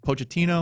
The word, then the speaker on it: Pochettino: better running the show than the last guy, Pochettino?